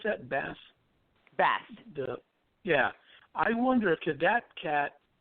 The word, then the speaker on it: Bast: How do you pronounce that? Bast.